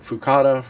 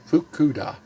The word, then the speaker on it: Fukuda: well asami continues referee fuku fukada oh sorry fukuda fukuda to retire i